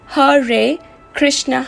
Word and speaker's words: Hare Krishna: comprised of the sanskrit names of god pronounced har ray krishna hareram the power